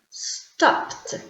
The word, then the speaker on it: stopped: CH H and C look at stop what's the pronunciation of stop in the past stopped talk with a K talked dress dou s dressed wash sh washed let's repeat stopped talked dressed and washed we all have the